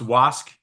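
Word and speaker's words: WSCUC: um it's actually pronounced was and it has was embedded in it as the acronym so it's the was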